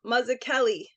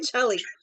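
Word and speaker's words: Mazzucchelli: I want to say a double C and Italian is K so it's um mazak Kelli is how you say his last name it's not Chelly but beyond it's not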